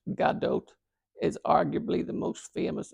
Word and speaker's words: Gadot: worldwide was born and raised in Israel galgadot pronounced Gadot is arguably the most famous Israeli in the